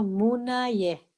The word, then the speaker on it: Munaye: Muni, Muni, Maha Munaye. Munaye. N-A-Y-E. Pronunciando la Y como en inglés, por ejemplo, no como en castellano, como nuestro rioplatense, no Munaye, sino Munaye.